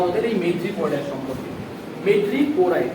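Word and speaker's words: madreporite: মেড্রিপোরাইড, উচ্চারণটা কি বললাম?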